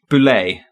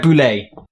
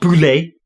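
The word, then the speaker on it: Boulle: I'm gonna guess Pierre boulay Pierre boulet I was actually wrong one pronunciation okay so apparently it's not bully because I was adding too much French but we've already established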